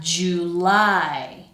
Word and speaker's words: July: And then the second syllable is the strongest one.